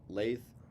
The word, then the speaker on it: lathe: out yeah la la lathe LA and plaster LA and plaster what did I say lap and plaster I might have pronounced la la it's pronounced l a t h e la LA and plaster